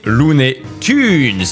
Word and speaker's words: Looney Tunes: Et je savais que c'était Lunet Tunes les gars. Et oui, je sais qu'on dit lunet Tunes mais ça se dit ça s'écrit Tunes.